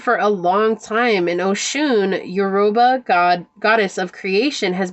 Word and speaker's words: Oshun: This is Oshun. I think that's how you say that. If I'm saying it wrong, my apologies. Yeah, Oshun.